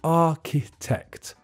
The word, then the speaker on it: architect: the middle that's just pronounced and the middle syllable is weak so you say architect architect number two okay this person is like